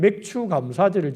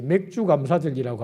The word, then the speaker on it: 맥추감사절: 그러니까 아무런 거부감이 없었는데 요즘은 보리 농사도 안 짓는데 무슨 맥추감사절을 지키라고 하나, 발음을 정확하게 해야지 맥주감사절이라고 하면 곤란한데 왜 맥추감사절을 보리 농사도 안 짓는데 지키라고 하느냐라고 생각할 수 있습니다.